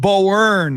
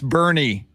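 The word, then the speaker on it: Boerne: a little town called bowern and i go uh now you're in bear county and it's bernie you're in bernie right now you're almost here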